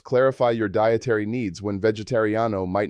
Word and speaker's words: vegetariano: I am vegetarian is soy vegetariano, pronounced soy vegetariano.